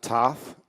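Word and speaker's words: Thoth: Uh, Toth and the Emerald Tablets exist. Yes, they do. And it's pronounced tote.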